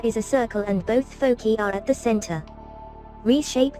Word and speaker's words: foci: And by the way, as far as things goes, since we're dealing with two focal points, the right way to say it is foci, and that's F-O-C-I.